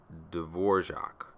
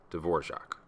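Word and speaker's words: Dvořák: It's actually pronounced D'vorjac. You'd have to talk to someone who knows a little bit more about Slavic pronunciation than I do to explain why, but that's how you pronounce it. D'vorjac.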